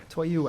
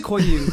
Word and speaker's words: Koyu: He's actually spelled it out phonetically, Koyu. and I did highlight I was close. James Koyu.